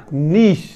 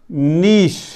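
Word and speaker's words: niche: نیچی نہیں پڑھنا, نیش, نیش.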